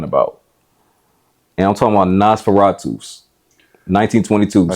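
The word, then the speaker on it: Nosferatu: never know how to pronoun that's how you pronounce it Nas Fatu okay I never was how to pronounce Tom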